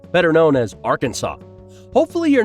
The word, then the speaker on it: Arkansas: search and rescue effort number 19 comes from R Kansas better known as Arkansas hopefully you're not watching this video in Arkansas